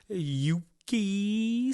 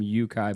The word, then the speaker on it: Yuki: there's about a 90% chance you're supposed to pronounce his name Yukai. No. Hey, I'm going to tell you, first of all, it's Yuki because every announcer...